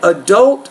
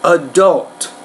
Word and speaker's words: adult: to point out that remember the stress here is on the second syllable that adult feedback adult adult feedback has a